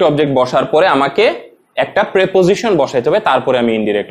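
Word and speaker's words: preposition: না, আমাকে তখন একটা প্রেপোজিশন বসাইতে হবে। এটার উচ্চারণটা হলো প্রেপোজিশন, অনেকে আসলে প্রিপোজিশন বলে, তো ছোটবেলায় আমিও সেটাই পড়েছি, তো আসলে উচ্চারণটা হবে প্রেপোজিশন, এবং ডিরেক্ট অবজেক্টের পরে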